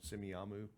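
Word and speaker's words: Semiahmoo: on their boat in Simi Amu. I didn't even know how to pronounce that until I got there. It sounded like a ice cream thing, you know, Simi Amu. That's what it sounds like, doesn't it?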